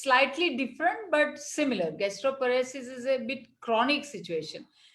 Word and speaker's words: gastroparesis: She says, any cure for gastroparesis? Or if maybe I'm pronouncing it, maybe I'm pronouncing it wrong.